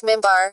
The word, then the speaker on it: minbar: qibla, and a pulpit, minbar, pronounced mimbar, from where sermons were delivered during noon prayers on Friday.